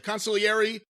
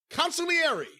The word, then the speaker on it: consigliere: A great friend of the show, of course, the consigliere to the cult of Cornette. The what? Consigliere to the cult of Cornette. Consigliere. Now, a lot of Italians don't pronounce the G.